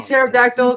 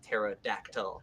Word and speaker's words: pterodactyl: But pterodactyl as like my favorite name because it's like pterodactyl because the P is silent because it's a pterodactyl.